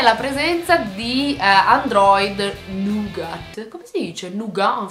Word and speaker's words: Nougat: la presenza di Android Nougat. Come si dice Nougat en français? Parce que il français, quindi latino non si legge in fondo, quindi diventa Nougat.